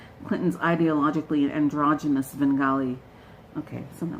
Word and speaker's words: Svengali: Now, I think I sort of mispronounced Svengali. No, the S is silent. Clinton's ideologically androgynous Svengali.